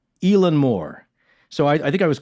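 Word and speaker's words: Eilean Mòr: the pronunciation right but somebody who's actually scottish louise palmer told us elon moore so i think i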